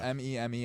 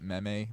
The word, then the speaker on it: meme: Yeah, it's spelled M-E-M-E. I know a lot of people try to pronounce it meme, but it's pronounced meme.